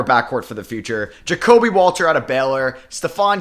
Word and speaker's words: Jacobe: switch all right so it's uh jacobe like Kobe Bryant there and yeah so let's